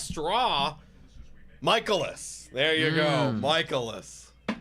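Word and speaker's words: Mikolas: Michaelis. We used to remember pronounce it like Nicolas.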